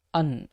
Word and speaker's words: and: அதனுடைய உச்சரிப்பையும் உச்சரிப்பையும் பார்க்கணும் அந்த அண்டு என்ற வார்த்தையை இந்த வாக்கியத்துல எப்படி உச்சரிக்கணும் அன் அப்படின்னு உச்சரிக்கணும் சரிங்களா what did i tell